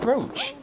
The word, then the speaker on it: brooch: Why is it brooch? Why is brooch the only word like this? Does any word rhyme with brooch? Coach? But coach is C-O-A.